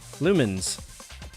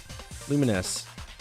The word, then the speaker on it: Lumines: It's Lumines. Lumens. Lumines. What have I been saying? Have I been saying it wrong? Lumines.